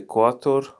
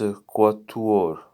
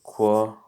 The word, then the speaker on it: quatuor: Okay, quator. I'm not so. I was going to say I'm not so sure about that. Yes, it's quatuor. I got it. So how do you say it? It's quatuor.